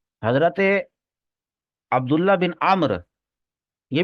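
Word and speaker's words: عمرو: कर देता हूं हजरत उमर का नाम कहीं आए और उसके साथ वाव लगा हुआ हो तो फिर वह उमर नहीं है फिर वो व आईन पर जबर है अमर है और वाव वो साइलेंट है अंडरस्टैंड अमर तो हजरत अब्दुल्लाह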